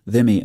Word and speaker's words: dhimmi: A dhimmi, pronounced dhimmi, is someone in a place conquered by